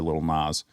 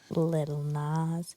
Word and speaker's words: Lil Nas: Now we've transitioned into Will Smith, not Billy Ray Cyrus or Lil Nas. Little Nas. Did I say it wrong? Lil Nas? Yeah.